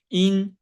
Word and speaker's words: yin: Yin and the yang. It's actually pronounced ying and yang, right?